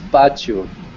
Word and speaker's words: pátio: Oh, so like pátio. We pronounce in Portuguese pátio.